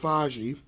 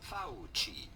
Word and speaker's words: Fauci: Fauci. Fauci. Yes, in Italian, the C is pronounced like Fauci.